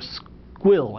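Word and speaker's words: Sguil: product is squeal or squill it's pronounced squeal it's spelled SQ s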